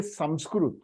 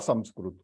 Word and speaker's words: Sanskrit: But the problem is, whenever we say Sanskrit or Sanskrit, both are the right pronunciation.